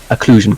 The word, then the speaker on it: occlusion: yes um or occlusion no uh the um occlusion coloring and that's how it's pronounced um basically it's rather than now where